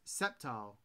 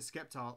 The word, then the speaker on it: Sceptile: It's pronounced Sceptile. I always called it Skeptile.